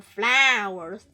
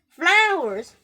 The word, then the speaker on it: flower: Of course, there are flowers. Flowers. Be careful, it's very difficult to pronounce, like F and L, F and L. Right? F, F, L, L. Put them together. F, flower, flower.